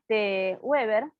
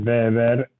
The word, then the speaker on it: Weber: se pronuncia en alemán la W, se pronuncia como nosotros hacemos la B corta, y la B corta en alemán se pronuncia como nosotros pronunciamos casi una S, ¿no? Entonces, nosotros castellanizamos el Weber por Weber, y está